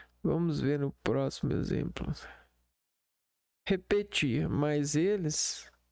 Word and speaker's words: repetir: Repetir, a sílaba mais forte é o ti.